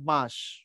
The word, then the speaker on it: বাঁশ: তখন উচ্চারণ হবে বাস। বাস। আর যখন চন্দ্রবিন্দু দিবা তখন হবে বাঁশ।